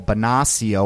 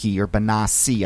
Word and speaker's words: Bonacci: Then you juxtapose that with stories like the ones about Jonathan Bosch and Paul Bonacio, or Bonacci, I think is how you pronounce it, who were in the